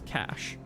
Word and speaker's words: cache: I've pronounced it cache because I've just it's a word that I've read more than I've heard, but I've been told that it's cash.